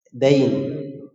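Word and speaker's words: دَين: Misalnya yang mirip-mirip saja dal, ya dan nun itu kalau dibaca din menjadi apa? agama. Tetapi kalau dalnya di fathah bacanya apa? Dain.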